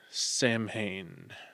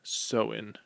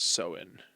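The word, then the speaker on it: Samhain: On the night before, October 31st, they celebrated the festival of Sam Hayne. Whoops. Pronounced sewen. Weird. Okay. It's It's spelled S A M H A I N, but it's pronounced Soen.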